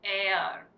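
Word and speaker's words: heir: This is called air. Pronunciation is going to be air. ठीक है? But आप देख सकते हैं the spelling starts from H.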